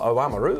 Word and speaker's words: Oamaru: The big fish, Oamaru on Saturday, or Oamaru as it's probably better pronounced.